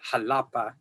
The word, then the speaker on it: Jalapa: the Gulf Coast of Mexico, and it's called Jalapa.